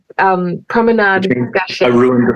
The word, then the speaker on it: Promenade Gâchée: film, which I'm going to get you to pronounce because my French is not. It's called Promenade Gâchée. Promenade Gâchée.